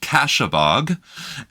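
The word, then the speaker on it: Kasshabog: When I was growing up, my family had a cottage on what's known as Lake Cashebog, spelt with a K.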